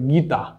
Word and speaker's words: গীতা: যেমন আমরা উদাহরণ সহ বুঝতে পারি গীতা, গীতা হচ্ছে একটি শব্দ যা দীর্ঘইকার দিয়ে শুরু, কিন্তু এটা যখন উচ্চারণে রূপ দিচ্ছি তখন এই দীর্ঘইকারটা হচ্ছে রস্যইকার।